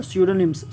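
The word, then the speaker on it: pseudonyms: हम लोगों का है वर्ड स्यूडोनिम्स। स्यूडोनिम्स मतलब क्या था? कृत्रिम नाम। यहाँ पी साइलेंट हम लोगों का है।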